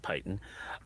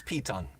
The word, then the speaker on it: piton: fixing a normal rope to that to that python uh piton uh yeah we yeah we need